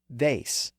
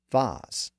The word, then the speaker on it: vase: That may have been what happened with the word vase or vase.